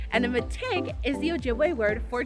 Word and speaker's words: mitig: bike with your family behind me is a mategue and a metig is the ojibwe word for tree and that's spelled m-i-t-i-g so the cool thing about trees